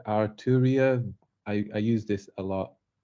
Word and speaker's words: Arturia: I don't even know how to pronounce it. Oh, it's called. Let me just quickly say Arturia. I use this a lot. It's called Arturia V Collection. I've used this quite a lot. Arturia.